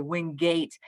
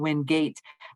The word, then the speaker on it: Wingate: So Wingate makes a lot more sense to me. Yes, and win being more prominent, I love that too.